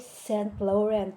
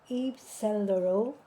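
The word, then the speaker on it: Saint Laurent: Hindi daw e St. Laurent. Hindi daw yun. Cellero ang kanyang tamang correct pronunciation dahil ang gumawa nito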